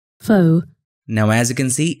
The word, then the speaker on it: faux: for bold faux italic I used to say Fox but my good friend George in corrected me Thank You Georgie all right so let's choose faux italic and just to make things clear again here's the pronunciation faux faux now as you can see it's italic